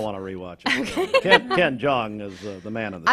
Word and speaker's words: Jeong: Jeong, okay.